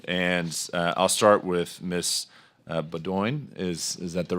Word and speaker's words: Beaudoin: Beaudoin. Is that the right pronunciation? It's Beaudoin, but anything works.